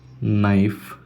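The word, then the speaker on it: knife: ఇది కేఎన్, మనకి కే సైలెంట్ కాబట్టి నైఫ్.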